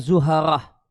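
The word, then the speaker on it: زهرة: Mars itu Murikh, Jupiter itu Mushtari, Saturnus itu Zuhal, kemudian Venus itu Zahra. Kalau di kamus disebutkan definisinya atau bacanya Zuharah, kaukabun sayaron.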